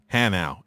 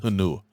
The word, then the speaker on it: Hanau: The 3 years that you're going to be here, it is pronounced HANAU. It is not pronounced HANUA."